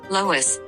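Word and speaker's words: loess: what's in a name Lois which rhymes with bus is German for loose soil because the grains are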